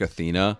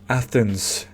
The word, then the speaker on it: Athena: And it is called The Chronicles of Riddick: Assault on Dark Athena. Okay, he said it wrong twice. It's Athens, not Athena.